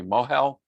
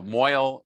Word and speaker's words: mohel: So a mohel, the person who does milah, is called a mohel, or moil in the kind of the Yiddish Ashkenazi pronunciation, will actually have to